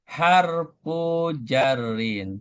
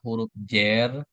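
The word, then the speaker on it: حرف جر: Perhatikan cara baca ee walaupun kita ngenalnya adalah huruf jer, tetapi itu kan udah menjadi istilah kayak bahasa Indonesia. Nah, dalam membaca bahasa Arab maka itu harus dikasih harakat ya.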